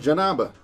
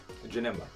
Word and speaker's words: Janemba: Childish Heart, Janamba. Janamba. Scheming Oolong. All right, Infernal Messenger's back. Kipraj, Dragon Ball, baby. Bittersweet Symphony. Supreme Evil, Janamba. Mm. Is that really how you say his name? Janemba, yeah. Janemba.